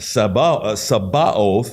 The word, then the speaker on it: Sabaoth: And we showed that Sabaoth, is how it's pronounced, armies, hosts, and multitudes, the way it's translated in the scriptures, and all of these various things it relates to.